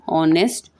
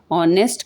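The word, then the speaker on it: honest: एंड ऑनेस्ट ऑनेस्ट का जो first letter है वह भी साइलेंट है।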